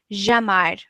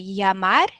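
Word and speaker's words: llamar: like a y yeah because some people maybe from Uruguay we have a few friends from Uruguay or from Argentina they say Jamar or jover a little bit yeah in Spain we say yeah yeah that's how I also learned um that's how people from Mexico all of Latin America they say yamar yo ver um Mustafa do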